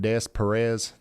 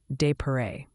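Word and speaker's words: Des Peres: It's called Des Perez. Oh. Oh, honey. It's actually pronounced de pare, like de pair.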